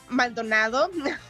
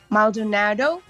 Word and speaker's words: Maldonado: It's pronounced Maldonado, so it is written Maldonado. So Maldonado.